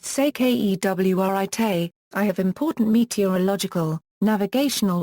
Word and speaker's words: Securité: Security copyright equals, pronounced sekewrit, I have important meteorological, navigational or safety information to pass on.